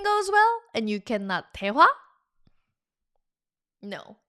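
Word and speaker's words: 대화: That's daehwa. daehwa daehwa Two syllable word.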